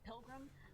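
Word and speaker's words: Pilger: significant damage near Wisner and earlier was it Pilgrim Nebraska if I pronounce it wrong but it's p-i-l-g-e-r Nebraska and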